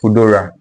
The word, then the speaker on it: Foodora: The second one is Foodora. Foodora. So the word food and then ora.